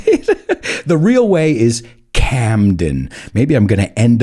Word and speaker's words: Camden: it's here in spain a lot of my students say that they love gandem kandem but it's not gandhim it's camden la eme now i don't